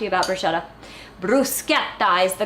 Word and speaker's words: bruschetta: to talk to you about bro shut up Bruce get sighs the correct way to pronounce it and it apparently literally means toast